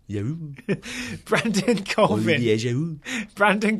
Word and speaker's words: Giroud: You mean Olivier Giroud? Yes, excuse me. I'm telling you before we get the tweets. Giroud. No, you're overpronouncing it. Giroud.